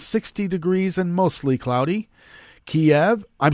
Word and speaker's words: Kiev: Kiev, that's the proper way to pronounce it.